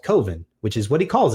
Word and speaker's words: Coven: about how he's like, it's pronounced Coven. I don't understand. He's like, how else can it be pronounced? It's like Coven. It's the proper pronunciation. He's like, well, Coven sounds like oven, and that just doesn't work.